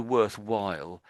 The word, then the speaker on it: worthwhile: So, let's just do the worthwhile because the W sound is what's in the middle of this word really. So, your W is a little bit weak when you're doing this here. So, it's the the W is that letter where you put your lips together like as if you were kissing a little child on the top of their head like that.